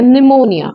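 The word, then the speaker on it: pneumonia: It's psychology या psycho या निमोनिया। Spelling में हम पी लिखेंगे लेकिन पी यहाँ साइलेंट रहेगा।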